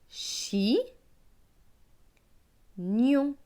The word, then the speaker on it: chignon: Chi, gnon, chignon.